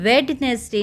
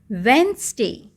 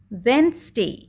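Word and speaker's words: Wednesday: वेडनेसडे बोलते हैं बच्चे जबकि यह वेडनेसडे नहीं बोला जाता है इसको हम बोलते हैं वेनसडे वेनसडे ठीक है आपका डी यहां पर साइलेंट हो गया वेनसडे ओके तो इस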